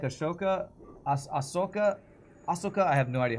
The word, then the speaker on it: Ahsoka: I said it right the first time. With the SH sound, even though the H is before the S, I don't know. Ahsoka is right, but it